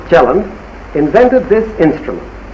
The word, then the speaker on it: Kielland: In 1915, Kielland of Norway, over there it is pronounced Kielland, invented this instrument.